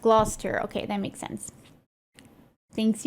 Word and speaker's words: Gloucester: Oh, we have a region in Ottawa named that, and it's pronounced Gloucester.